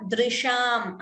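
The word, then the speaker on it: दृशम्: Rasa iva drisham. Again here it is dr, not dru.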